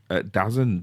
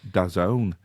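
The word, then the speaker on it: DAZN: And I was logged into uh well I was c I thought it was dazzen d a zn but apparently it's pronounced dazone which is this uh sport app which you can log into and watch the NFL games live.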